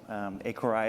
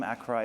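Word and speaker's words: Accuray: We have a few different pronunciations of our company name around the world. Accouray is one of them, Accouray is another. The French go for the Accouray.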